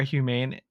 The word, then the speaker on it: Humane: We had talked about it when we were in our last episode or two, where we were talking about human AI or humane AI. I always Humane.